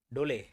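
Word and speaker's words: dhole: बोलते, ठीक है, दिखाता हूँ सोन ढोले ऐसे प्रोनाउंस करते हैं, ढोले ढोले ढोले शोले।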